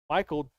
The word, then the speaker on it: Michael: But anyways, top 3 for that last night was Christopher Morse, Michael D'Amico.